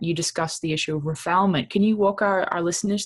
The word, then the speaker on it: refoulement: I think during the emergency event, you discussed the issue of refoulement.